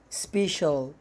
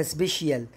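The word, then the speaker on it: special: زي ما بتنطق يلا سبيشال سبيشال طبعا في ناس بتقولها سبيشيال هي سبيشال تمام يعني خاص ديليشس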